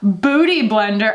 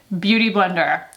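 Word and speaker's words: Beautyblender: i love and also booty blender i'm sorry they sent me merch i should pronounce it properly beauty blender sent me merch they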